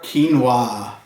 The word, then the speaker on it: quinoa: put some cream on it q is for quinoa YUM we can enjoy quinoa and quiche by